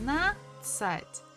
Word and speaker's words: надцать: Actually, when we are pronouncing this second part, надцать, we actually don't have to say letter the. We can just say надцать, одиннадцать, одиннадцать, одиннадцать, одиннадцать, 11.